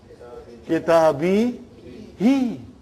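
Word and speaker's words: كتابه: But for the sake of pronouncing nicely, we change into kitabihi. No change because of grammar. It is just phonetics, brother.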